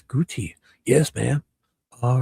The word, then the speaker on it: Gootee: would be one O. Two O's is guty.